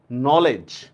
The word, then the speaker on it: knowledge: যেমন দেখেন ইংরেজিতে আমরা যদি নলেজ ঠিক আছে?